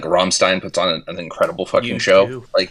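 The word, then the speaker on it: Rammstein: It's supposed to be like Ramstein or something. Wait, are you sick too like? No, I was just going to clear my throat and say Ramstein. Yeah.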